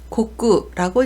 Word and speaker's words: 告: 음독은 고꾸라고 읽습니다. 보통 우리나라 말로 고라고 읽는 것은 일본어로 고 또는 고라고 읽는데 고꾸라고 읽는 점 유의하시기 바랍니다.